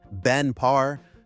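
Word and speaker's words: Ben Parr: Meta acquired Moltbook, bringing Matt Schlick and his co-founder Benpar for pronunciation Benpar directly into Meta Super Intelligence Labs, the AI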